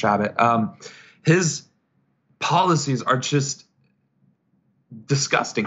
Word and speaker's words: Chabot: think that's reprehensible and with Chabot sorry his mate it's pronounced rabbit his policies are just